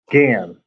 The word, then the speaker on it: Gan: I look at Gan, which rhymes with Dan.